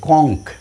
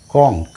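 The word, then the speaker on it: conch: পূর্ণচ্ছেদ যেমন বামদিকে সিঙ্গুলার ডানদিকে প্লুরাল দেখ কংক সি ও এন সি এইচ আচ্ছা ওখানে কি বলেছি চ ওটা ক হবে ক নাও ক এর মত উচ্চারণ হবে ঠিক আছে কংক সিও এন সি এইচ কংক ঠিক আছে তাহলে শেষে এইচ রয়েছে উচ্চারণ হচ্ছে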